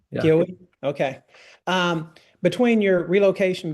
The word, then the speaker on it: Keowee: How do you pronounce it? Keowee. Yeah. Keowee.